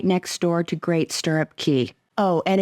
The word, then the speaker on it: Cay: door to Great sturup key oh and it is pronounced Key by the way at least that's what